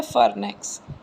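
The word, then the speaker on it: pharynx: बोलना क्या है? फार्नेक्स। वाई साइलेंट होता है।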